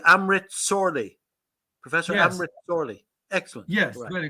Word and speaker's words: Šorli: hour uh Amrit um so um am I pronouncing your name correctly Amrit sorely Professor Cameron excellent yes very good okay so